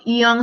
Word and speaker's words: Yonge: Young se escribe no como joven, sino como YONGE.